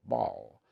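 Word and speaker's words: Basel: That's how you say it, Ball.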